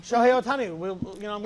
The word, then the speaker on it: Shohei Ohtani: How do you pronounce his first name? Otani. Shohei Ohtani? Shohei Ohtani.